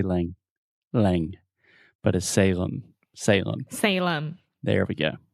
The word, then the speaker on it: Salem: with the pronunciation so this is Salem s-a-l-e-m and remember whenever you have a word that ends with the letter M in English we're going to close our mouth completely because your natural tendency